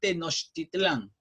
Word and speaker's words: Tenochtitlán: Yo sé que les va a costar trabajo pronunciarla. Se llama Tenochtitlán, ¿ya?